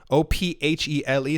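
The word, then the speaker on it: Ophèle: So from a recent interview with a magazine known as Challenges, someone by the name of Robert Ophele, O-P-H-E-L-E, so Robert Ophele, if you want to pronounce it that way, who is the president des Autorités des Marchés Financiers, AMF.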